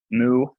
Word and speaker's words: mu: Mu. This one's easier. The capital looks like an M, makes the M sound. All the letters pronounce me in Greek. So me.